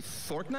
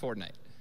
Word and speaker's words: Fortnite: Did you say fork knife? Fork knife. It's actually pronounced Fortnite.